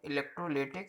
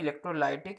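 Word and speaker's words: electrolytic: तो सबसे पहले हम बात करते हैं इलेक्ट्रोलिटिक सेल या फिर इसी को बोलते हैं इलेक्ट्रोलाइटिक सेल। ठीक है, कुछ भी प्रोनाउंसिएशन कीजिए, सब सही है।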